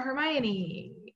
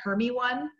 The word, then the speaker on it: Hermione: being lazy uh draw hermione draw hermione apparently a lot of people were pronouncing it herme one and so jk rowling wrote in a scene where she explains how to pronounce her name uh raw equals function